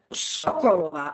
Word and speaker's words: Sokolova: Sokolova, again, the stress on the first syllable.